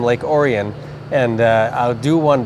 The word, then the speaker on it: Lake Orion: you know it's uh we pronounced it at the time Lake orian and uh I'll do